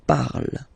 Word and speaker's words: parle: pronounce it is je parle, parle. So remember, we put it, okay, but then we don't really pronounce it.